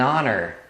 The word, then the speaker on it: honor: an hour ah an Honor an Honor uma honra tá vendo Então honra é Honor então também você não pronuncia o h por isso que o